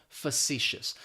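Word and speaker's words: facetious: it may not be pronounced the way that it's spelled fous that first syllable is going to have that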